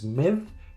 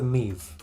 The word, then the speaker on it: MIV: Miv is the basic pronunciation as an English speaker, if you see that, but Meev is more LARP and maybe implied by having 2 eyes in it. Let's go with Meev.